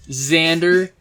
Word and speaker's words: Xander: on a special miss his name is Xander cage spelled with an X Xander Xander cage xxxxxx Jesus Christ And